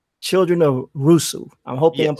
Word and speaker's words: Rusu: So your book is called Asami, Children of Rusu. I'm hoping I'm Yes.